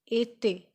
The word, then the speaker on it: été: It sound like A, so we pronounce it été.